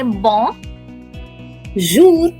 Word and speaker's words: bonjour: That's how we are going to say bon jour. Bon jour. Yes, the R is pronounced for now. Since we are not used to the French R, we are going to pronounce the R.